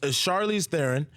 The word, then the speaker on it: Charlize Theron: out on Friday right Charlize Theron mm-hmm I thought it was Charlize Theron you know I thought it was thrown I've been saying everybody's name wrong the whole press tour is Charlize Theron it's June Rafe al